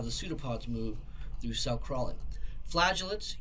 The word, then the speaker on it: pseudopod: the four see the first one are called pseudo pods it's pronounced pseudo pod pseudo means false pod pod